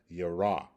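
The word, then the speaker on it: ירה: That's the same thing that the root is talking about, yara, okay? And that's how it's pronounced.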